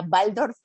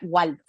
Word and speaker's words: Waldorf: escuchan es n más como es la W entonces la pronunciación alemán sería Waldorf en mexicanismo sería Waldorf entonces que es lo